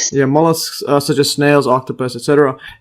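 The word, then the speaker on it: molluscs: So other animals such as molllesks. See the pronunciation again. Mollisks. Yeah. Mollisks such as snails, octopus, etc.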